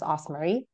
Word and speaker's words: Osmarie: to pronounce for other people but it's just pronounced osar I'm originally from the Philippines so I was